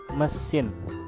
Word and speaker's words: mesin: Mesin. The E here, it is pronounced like in English bird.